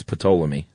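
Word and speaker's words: Ptolemy: It's Pleamy.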